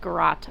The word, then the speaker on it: garrote: Apparently it's called garrote. I've been saying it wrong the whole time.